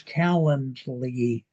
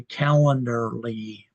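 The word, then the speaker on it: Calendly: I I booked it through his calendarly. I find that word hard to pronounce. I want to say calendarly, but it's not. It's calendarly.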